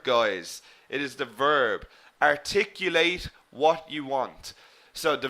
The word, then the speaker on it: articulate: manner remember the adjective we pronounced differently articulate articulate we put the stress in the second syllable okay exactly Aziz we